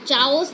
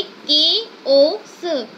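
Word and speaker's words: chaos: इसको कोई भी प्रोनाउंस चाओस नहीं करेगा. ठीक है. इसका प्रोनाउंसिएशन होता है केओस.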